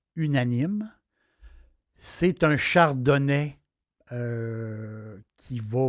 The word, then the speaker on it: Unanime: n i m e je le prononcer en français unanime c'est un Chardonnet qui